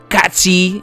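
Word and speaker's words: Cait Sith: they kill Yuffie, fucking Kate Sith, right? Katsi, however you want to pronounce it. I'm American, right? And it's Kate Sith forever for me.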